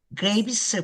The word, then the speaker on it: Greaves: Maestra, bienvenida, maestra Graves. ¿Cómo se pronuncia su apellido?